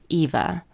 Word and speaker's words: Ewa: eva's name all along her name is pronounced eva but it's spelled with a w instead of a v i had also remembered